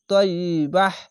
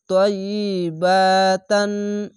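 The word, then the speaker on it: طيبة: কিন্তু থামতে গেলে এইটির উপরে একটি সাকিন দিয়ে হা পড়তে হবে এরকম ভাবে তাই যাব তৈ ইয়া ই ত বা হাজার বাহ তাইবাহ তাইবাহ এভাবে থেমে যাবেন আর যদি মিলিয়ে পড়েন তাহলে তাইবাতান এভাবে উচ্চারণ হবে কিন্তু এখানে থামলাম তার জন্য বাহ বলে থেমে যাবেন ইন্নাকা এখানে ওয়াজিব গুন্না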